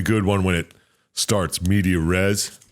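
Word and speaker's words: medias res: know it's a good one when it starts medeor res right that's the right way to say that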